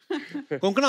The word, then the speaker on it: कोंकणा: आई am sure अगर आपको कोई पंजाबी मिले वो हमेशा कंकना बोलेगा.